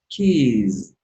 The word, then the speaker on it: keys: Keys. Be careful with this. Because this is the plural, okay? This is the plural. So the final pronunciation is z.